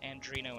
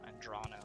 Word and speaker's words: Adrano: this this is an andrino ancestral tomb right yeah andrano sorry my sincerest apologies to